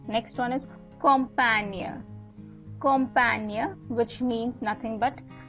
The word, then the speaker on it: Campagne: The GNE is where I'm pronouncing the near, right? Allemagne is nothing but Germany, right? Next one is Campagne.